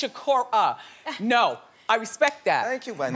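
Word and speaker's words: Sikora: show that somebody corrected me about pronouncing their name wrong, which I do a lot, as you all know, because you watch. It's Shakur.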